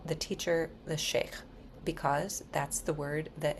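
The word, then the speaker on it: shaikh: So the people in Saratian who can offer initiations and guide reads are called sheh.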